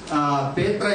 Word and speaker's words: Petri: from Thomas near Kalyampur, Petri, derived from Peter, which pronounced as Petra in Kannada language, near Brahmawar, and Barkur, derived from Bartholomew plus Uru.